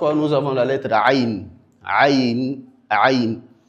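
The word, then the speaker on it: ع: Nous avons la lettre ain ain ain l'erreur qui est effectué par beaucoup d'apprenants, c'est le fait que il implique la cavité naszale dans la prononciation de cette lettre. La lettre aine a pour lieu d'articulation l'épiglotte. Donc au milieu de la gorge, on est censé à dire a ain ain sans pour autant impliquer la cavité nazale.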